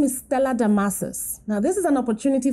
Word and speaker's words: Damasus: have had for years there's no c in my name it's the masses not damascus it is spelt a d-a-m-a-s u s not s c u s okay so it's not stellar damascus it's stellar masses i'm hoping that after